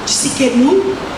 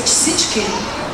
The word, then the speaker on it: Tsidkenu: Uns produzem pronunciam Tsidkenu, outros pronunciam Tsenu, mas pelo que eu conheço é Tsidkenu.